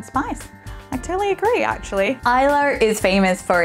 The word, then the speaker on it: Islay: Sometimes I say Islay, and that is totally wrong, and everyone makes fun of my pronunciations because I totally suck at it. So I do apologize if I've said something wrong in this video, but definitely say Islay so you don't look like a fool, like I have previously.